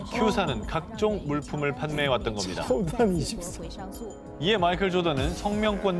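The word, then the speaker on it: 乔丹: 먼저 큐사는 회사명에 조던의 중국어 발음인 차오단을 넣어서 설립.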